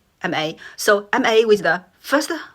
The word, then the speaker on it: 骂: So you can, when I'm pronounced ma, my voice dropped quickly, ma. So it sounds like that you quite agree or disagree with something, you say yes, no. You can hear that. The pronunciation or the tone dropped very quickly.